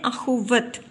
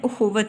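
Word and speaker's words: اخوت: तो जब हम इसको गलत तरीके से पढ़ते हैं तो हम इसको बोलते हैं अख़ुवत, लेकिन सही इसका तलफ़्फ़ुज़ है वो है उख़ुवत।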